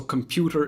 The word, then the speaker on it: computer: computer in this case the correct syllable to stress is the second one so computer is how to pronounce